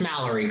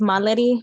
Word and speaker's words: Mallory: It's Mallory, correct? No, it's pronounced Mallory, but you can call me Mal.